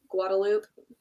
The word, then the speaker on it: Guadalupe: But like the main street in Austin is called Guadalupe. It's spelled Guadalupe. No one says that.